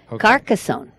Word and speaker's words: Carcassonne: look it up and find out how to pronounce rowley about that no it's not I do know that carcassonne carcassonne carcassonne hey and you know how I